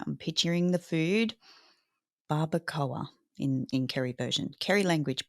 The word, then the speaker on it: barbacoa: Have you ever heard of barbacoa? Jesse, how do you even spell that, mate? Like, let's We break it start there. down. So a phonetic way to pronounce it is barbacoa.